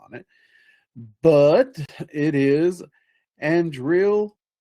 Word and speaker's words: Andrealphus: But it is ANDREALPHUS. ANDREALPHUS is how I most often hear it pronounced.